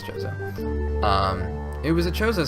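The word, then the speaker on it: Chozo: was a I've always I always said Koo but I'm pretty sure it's choso um it was a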